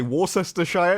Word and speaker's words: Worcestershire: No, they say Worcestershire.